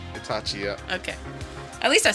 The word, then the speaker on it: Itachi: Itachi? Itachi, yeah.